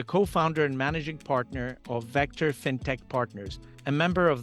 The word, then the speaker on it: Vectr: is and am I pronouncing it correctly because it's spelled v c are right that's it Vector Ventures so Vector Ventures was started by Two